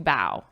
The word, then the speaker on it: bough: That is the same pronunciation. So the spelling of that is B-O-W, bow, to bow.